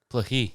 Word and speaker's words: Plokhii: of your last name yeah yeah it's pohi Plucky yeah Ukrainian yeah and how do you spell that p-l-o-h-y okay um so we're going to